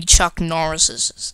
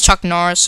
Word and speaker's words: Chuck Norris: badasses like they're like an army of many Chuck niss okay I said s yeah I'm really bad cuz it's Chuck Norris or mini Chuck Norris says I don't know